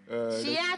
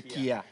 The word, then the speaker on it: chia: Chia, tu dis Kia. Non, en fait, la bonne prononciation, c'est Kia. C'est pour eux. Pour nous, c'est chia.